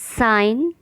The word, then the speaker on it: sign: ऐसी स्पेलिंग जिसमें जी है लेकिन उसका उच्चारण या प्रोनाउंसिएशन नहीं किया जाता। साइन, कैंपेन, कैंपेन अभियान। डिज़ाइन, resign, foreigner, assign. मैं रिपीट करती हूँ, sign, campaign, design, resign, foreigner, assign.